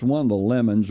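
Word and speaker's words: Lamon: It's one of the Lemons, or sometimes they pronounce Lemon, but in West Virginia it's always Lemon.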